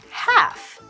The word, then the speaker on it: half: meet at half 7 our silent consonant is the L in half we won't say half we will say half pretend it's h FF let's meet at halfast